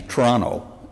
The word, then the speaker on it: Toronto: population because it's uh because we're in Toronto um or actually tonal as it's pronounced here um uh but